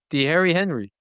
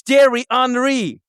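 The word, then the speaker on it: Thierry Henry: H how do you pronounce his name? The Harry Henry. Who the hell says the Harry Henry? Me cuz I'm American. It's Terry Henry.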